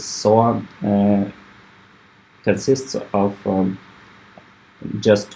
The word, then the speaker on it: SOA: service oriented architecture um usually pronounced as so uh consists of um